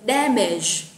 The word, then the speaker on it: damage: Rồi, mình chuyển sang từ tiếp theo ra từ damage. Nhớ nha, cái từ này là có âm đuôi là j. Các bạn bật trọng âm ra ha.